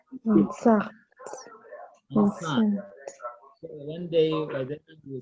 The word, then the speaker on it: enceinte: But the E at the end is silent. So we say Enceinte.